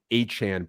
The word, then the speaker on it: Achane: Yeah, that's certainly the question of the week, and credit to you for nailing the Achane pronunciation. We learned that this week. That is indeed the correct pronunciation of his name.